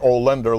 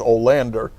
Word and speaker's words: Olander: Their captain was Frank Olander, spelled with an A at the beginning, not the an O at the beginning, but not not Olender like the furniture store. It's Olander. This guy was an incredible